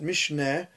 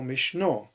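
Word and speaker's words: משנה: is Mishnah, Mishnayos, and people don't know whether to pronounce it Mishneh or Mishnah, which is correct, which is the correct pronunciation. And the answer is they're both correct. It depends on what Mishnah comes from, what's the root.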